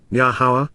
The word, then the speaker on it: Yahowah: Baha yamha shishi during the third day yahwah yahwah the proper pronunciation of yahwah our eloa God has directed